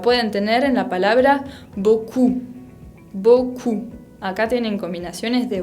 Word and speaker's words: beaucoup: tener en la palabra beaucoup. Beaucoup. Acá tienen combinaciones de vocales. Beaucoup. La P final no se pronuncia. Otra letra que no se pronuncia es la T, otra